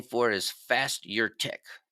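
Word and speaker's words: Fasturtec: it before but it's called Ras bucas and it's spelled r a s buur i c a e another name for it is fast your Tech f a s t u r t c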